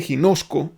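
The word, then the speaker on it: γινώσκω: de un origen de una raíz que se dice sin hosco así se pronunciaría en un griego sin hosco y que conozco esta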